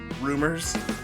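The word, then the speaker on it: Roomers: It's spelled R O O M E RS. So, rumors uh that kind of point you in the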